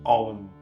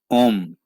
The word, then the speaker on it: Om: It's pronounced Om. Om.